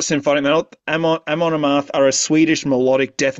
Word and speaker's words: Amon Amarth: again, I believe in Sindarin again, the literal translation of Mount Dune is Amon Amar Amon Amar I cannot pronounce Elvish. Amon Amarth.